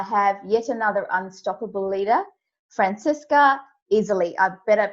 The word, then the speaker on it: Franziska Iseli: me today i have yet another unstoppable leader francesca easily i better pronounce that correctly i love your name by